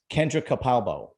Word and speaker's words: Kendra Capalbo: few youtubers i have today a special guest kendra capalbo did i pronounce that right you did okay good the